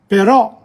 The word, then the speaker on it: però: Like in pero is pear, tree, but però is but. La O finale non si pronuncia nello stesso modo. When there's an accent, you have to put the extra emphasis on it.